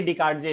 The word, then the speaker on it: Descartes: Renee DESCARTES, Renee डिकार्डजे इसको हम लोग प्रोनाउंस करेंगे, ठीक है।